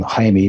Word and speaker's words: Jaime: Now, in Espanol, they would pronounce his name Jaime, but I guess because he comes to North America so much, I decided to let people just call him Jamie to keep the confusion, minimize confusion.